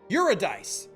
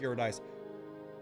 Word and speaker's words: Eurydice: but with Beverly or you're a dice or eurydice however you will pronounce them eurydice is correct but I don't care I like your dice bam recharge those Shields